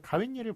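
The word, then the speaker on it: 가욋일: 자, 근데 가웬일을 보시면 가외 플러스 일인데 발음 어떻게 합니까? 가웬일, 가웬일. 웬에도 니은 붙고 닐에도 니은 붙죠.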